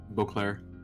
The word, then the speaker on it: Beauclair: Beauclair.